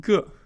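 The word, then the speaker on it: 个: It's pronounced g or can also be in the fifth neutral tone just uh g um and this is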